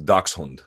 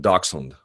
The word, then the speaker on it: dachshund: I don't speak German my understanding of it is dachshund do you have a dachshund or dachshund if you wanted to